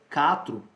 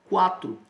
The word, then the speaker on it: quatro: diz capu por acaso pessoal por acaso você pronuncia catro não pronuncia quatro a gente pronuncia quatro então nesse caso é pronunciado e ele não